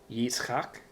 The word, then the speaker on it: Yitzchak: And for those who have a keen ear, you might recognize this as the Hebrew name Isaac. Yitzchak. That's the name Isaac.